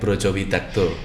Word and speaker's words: Brajawidagda: Tapi namanya dulu kan harusnya ejaannya Brojo Widakdo. Iya. Tetapi dulu pilihannya pakai A atau O karena lafal O kalau di huruf Jawa, di bahasa Jawa itu tulisannya A. Jadi di tulisannya A tapi harusnya melafalnya Brojo Widakdo.